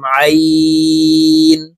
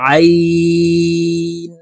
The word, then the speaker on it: ع: জিম দাল, মিম আইন, আইন সদ। আইন হরফটি হলকের মধ্যখান থেকে চাপ দিয়ে উচ্চারণ করব, কারণ আইনের মখরাজ হলকের মধ্যখান থেকে হবে।